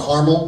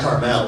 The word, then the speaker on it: Carmel: Carmel? Is that what you guys call it here? Not Carmel, we wouldn't want to pronounce it, you know, classy, rather, like the candy.